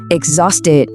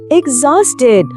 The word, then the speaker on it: exhausted: Trọng âm lần này rơi vào âm tiết thứ hai. Exhausted.